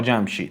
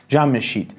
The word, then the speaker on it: Jamshid: was still considered king he was still called Shah Jamshid or Jamm-e-sheed however, he was nowhere